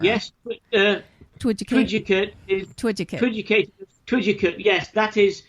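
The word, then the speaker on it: Twiducate: Twidgicate.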